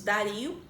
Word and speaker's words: Dario: com o imperador chamado dário eu já vi a pronúncia também alguns momentos dario tão tanto faz tá o daryl ou